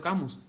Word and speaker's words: Camus: Tuvo un discípulo que se llamaba Pedro Camí. En español se puede pronunciar Pedro Camus.